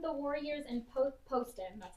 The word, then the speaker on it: Poston: She was born in Los Angeles just like a Alice spent the war years in Post Poston. That's how you pronounce that concentration camp. Okay. So, Poston.